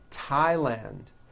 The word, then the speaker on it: Thailand: like to point out although these next words and names are spelled with a th they are pronounced as if they were spelled with a normal t t like that and